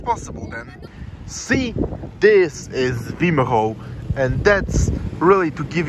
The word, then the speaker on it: Wimereux: beautiful nature here in Vio or like Vio like it's pronounced in French whatever so this is